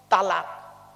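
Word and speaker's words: طلاق: তালাক। বলেনি বাবা? বলুন না একটু। তালাক শব্দটা কিন্তু তালাক নয়, শব্দটা হলো তলাক। ওর আরবি উচ্চারণ হলো তোয়েল আমারি কপ, বাংলা উচ্চারণ হলো তয়বাই লয়াকার ক।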